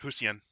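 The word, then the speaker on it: Hsien: Zen Gunman actually gave me a pronunciation guide for that. Husien.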